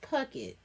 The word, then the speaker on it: Puckett: favorite kelly pocket pop in this pocket yes puckett that's how we pronounce that again little secret identity oh when